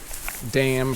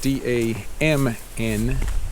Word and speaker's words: damn: another word in english damn pronounced the same way but it is spelled d-a-m-n damn which is kind